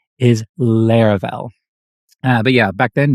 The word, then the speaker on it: Laravel: when people heard the word they called it LEL not laravel and actually some people still do today but trust me the correct pronunciation is Lar fell uh but yeah back then nobody knew what